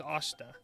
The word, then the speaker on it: Oster: So the main character for this game's name is Asta, spelled Oster. It's It's pronounced Asta, though. But it looks like this. Just gotta remember to say Asta.